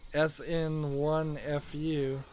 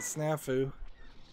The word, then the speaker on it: snafu: zapper out um we sn1fu uh I guess you don't pronounce it that way do you you pronounce it snafu what a snafu can